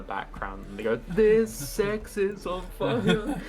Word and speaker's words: CeX: No, in the UK we have a shop called Sex, but it's spelled CEX.